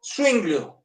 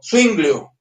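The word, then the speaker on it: Zwinglio: entonces empiezo con el otro magisterial, es Ulrico Swinglio. Algunos lo escriben con U z UI. Yo prefiero hacerlo con Z W o W como le dicen algunos. Z W U I N G L I O. Swinglio Ulrico.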